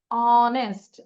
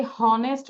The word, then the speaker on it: honest: H, অনেস্ট, H কি বলি আমরা? আমরা কি হনেস্ট বলি?